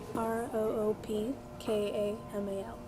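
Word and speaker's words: Roopkamal: roger mclean okay i didn't catch it so spell it for me r-o-o-p-k-a-m-a-l roop kamal yeah you should have said that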